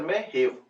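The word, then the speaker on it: Mojave: Starting with the western most part USA, desert is मोहेव desert, spelling में जे ए लिखेंगे, pronunciation में हेव, मोहेव desert. स्नोरन desert of USA, Africa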